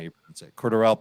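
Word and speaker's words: Cordarrelle: not you that's it cordurelle Patterson that's how you pronounce it no it's Cordero cordarrell yeah so I said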